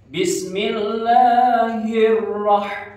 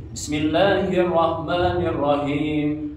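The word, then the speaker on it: بسم الله الرحمن الرحيم: Nah sepintas mungkin benar membacanya gini. Bismillahirrahmanirrahim. Nah, seolah-olah itu benar, padahal itu salah ya. Kurang sempurna bacaannya. Nah yang betul itu gimana? Saya kasih contoh. Bismillahirrahmanirrahim. Nah itu untuk ayat pertama surat Al-Fatihah.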